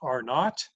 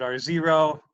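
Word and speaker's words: R₀: the basic reproduction number sometimes pronounced are not British people call zero not I call it R zero you can call it or not or just the basic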